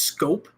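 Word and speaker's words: Schoop: Are you trying to tell me his last name is pronounced Scope? Yes. Trust me, the first time I saw Jonathan Scope's name, I thought it was Shoup, like the old Salt and Pepper song.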